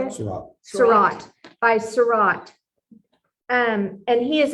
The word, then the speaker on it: Seurat: Seurat.